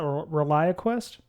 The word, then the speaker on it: ReliaQuest: architect at how do you how do you pronounce that reliaquest that's correct uh Rel and U I don't